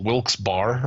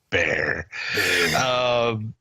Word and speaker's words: Wilkes-Barre: Wilkes-Barre or Wilkes-Barre. I'm not sure how they pronounce their name. I've always pronounced it Wilkes-Barre. They get fucked all the time. Of course, you pronounced it Wilkes-Barre. Bear.